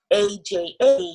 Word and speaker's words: Aja: So when you're saying A-J-A, you're saying Aja and not A-J, A-J, for example.